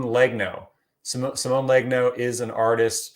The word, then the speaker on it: Legno: I always want to say Simone Leguno. Simone Legno.